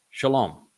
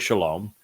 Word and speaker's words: Shalom: um but the Shalom the word Shalom derives the o sound from the Hebrew uh vowel W mystery solved this is